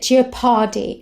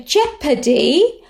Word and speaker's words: jeopardy: corker of his uh he pronounced it gia pardi and for years and years i pronounced it to your party too so jeopardy risk of harm or